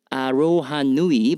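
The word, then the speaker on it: aroha nui: you Yan what is your favorite dance style arohanui by the way your pronunciation of this Mai word is spot on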